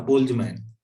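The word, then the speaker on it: Boltzmann: Modification जिस आदमी ने दिया उसका नाम है बोल्जमैन। ये जर्मन डबल एन लगाते हैं कई, तो बोल्जमैन कहते हैं इसको हम लोग, टी साइलेंट हो जाता है।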